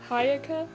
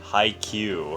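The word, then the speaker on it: Haikyuu: watching toradora i'm watching hayekah did i pronounce it hi no volleyball animation hi q thank you and what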